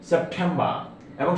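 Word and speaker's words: September: এখানে সেপ্টে টিটা ঠায়ের মতো উচ্চারণ হবে, ঠা সাউন্ড। সেপ্টেম্বর, এবং শেষে আর উচ্চারিত হবে না, কারণ ব্রিটিশরা শেষে আর উচ্চারণ করেন।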